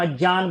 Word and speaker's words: अज्ञान: अज्ञान ये संस्कृत का शब्द है, जिसे हम अज्ञान बोलते हैं, क्योंकि ज और य से बनता है, ठीक है, शुद्ध उच्चारण तो यही है इसका।